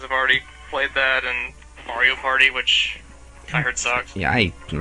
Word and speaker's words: Mario: You know, apparently I've been saying Mario wrong. Apparently it's like Mario. Well, if you're Brooklyn, I guess you can say it like that, but I think the technical Italian term is Ma-rio.